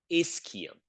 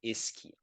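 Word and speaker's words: ischium: is the pubus and then there is the isum that's how you pronounce it okay yeah if you click on the pronunciation it will tell you it's called isum right there so right now I assume you're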